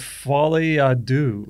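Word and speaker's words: Folie à Deux: who didn't understand yeah I got the name wrong the other day and I said uh Joker filet Deo feto feto and someone said say fet to dude what's fet to dude the sequel's called fol do or something it's got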